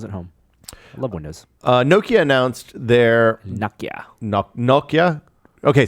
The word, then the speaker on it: Nokia: The Americans don't pronounce it because they don't really sell phones here. I mean, they do kind of now. Nokia. But Nokia. Nokia. And I don't know how they say it in India and Japan and China and the other places that they sell phones. But we go with the Nokia because that's how the Finns say it.